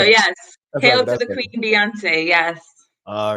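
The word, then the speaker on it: Beyoncé: Hail to the Queen Beyonce. Yes. All right. She's 40. Milestone birthday. All right, Bay.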